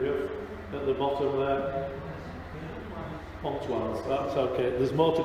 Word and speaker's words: Pontoise: Pontoise, that's okay.